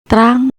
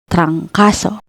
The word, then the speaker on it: trangkaso: First syllable, trang, consonant cluster TR plus vowel A plus consonant NG, and the second and third syllables, ka and so. Read it as trancaso, trancaso.